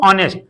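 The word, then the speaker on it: honest: से क्या हो जाएगा आपका एच साइलेंट हो जाएगा, क्या हो जाएगा एच साइलेंट हो जाएगा, और क्या हो जाता है ऑनेस्ट, क्या पढ़ते हैं इसको हम लोग ऑनेस्ट।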